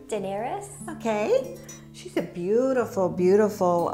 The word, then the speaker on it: Daenerys: and I'm not sure how you say it, Daenerys? Daenerys.